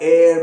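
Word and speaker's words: hour: इसके बावजूद भी एच कई दफा प्रोनाउंस भी नहीं होता। मिसाल के तौर पर ऑनेस्ट में हुआ, ऑनर में हुआ, एयर में हुआ, इन अल्फाज में एच प्रोनाउंस भी नहीं होता।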